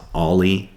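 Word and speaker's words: o11y: if you're really cool you abbreviated 011y maybe even pronounce it ali like that's the upper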